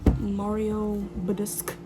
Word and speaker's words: Badescu: After my contour, I go in with my spray, the Mario Badescu spray.